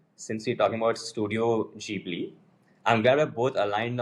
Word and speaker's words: Ghibli: I was reading that the way it's spelled in Japanese, it's actually Jiburi, but even when uh Haya Miyazaki, who's the co-founder and the honorary chairman, talks to audiences about it, he also says Jibli, so I'm comfortable saying Jibli.